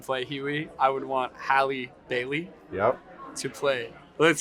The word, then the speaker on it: Halle: Is it Haley or Holly? Halle. Okay. All right, well, if I got to do the Memphis movie Yeah. and play Huey, I would want Halle Bailey Yep.